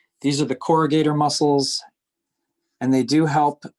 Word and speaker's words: corrugator: the right side so these muscles are pronounced corrugator and they're spelled c-o-r-r these are the corrugator muscles and they do